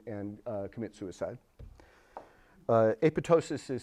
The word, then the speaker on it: apoptosis: something like that so the second p is silent most people get that wrong sorry um all right